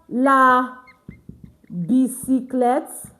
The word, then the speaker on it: bicyclette: Having word end with E-T-T-E. It's pronounced as et. So we have la bicyclette.